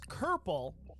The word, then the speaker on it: kerple: Another obscure word that rhymes with purple is kerple, which describes the hindquarters of a horse or donkey.